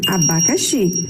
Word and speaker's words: abacaxi: é que isso funciona a palavra abacaxi a sua separação silábica fica assim abacaxi a sílaba mais forte é oxe então a sua e fica na última posição ok as posições das